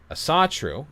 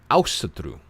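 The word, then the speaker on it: Ásatrú: Asatru is not an English word. It's not an ancient word. It's nothing. It's a modern Icelandic word pronounced with an English accent.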